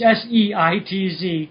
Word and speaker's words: Seitz: It's S-E-I-T-Z. Okay, so it is Seitz. Seitz. Okay, I was pronouncing it correctly.